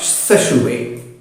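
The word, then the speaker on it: Sechehaye: It's pronounced as Saussure. It's a French name.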